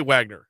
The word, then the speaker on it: Wagner: composer Richard Wagner wag they pronounce V Vagner Vagner yeah we would say Wagner Wagner yeah uh national day